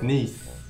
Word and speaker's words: Nice: It's pronounced Nice.